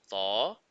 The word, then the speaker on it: ط: La lettre Ta fait le son T, mais emphatique. Donc comme Sad et Dad, c'est un T emphatique. C'est un T prononcé, donc le bout de la langue est en appui sur la racine des incisives supérieures, donc des dents supérieures, mais là, avec la langue un peu plus en arrière, presque comme si vous étiez enroué.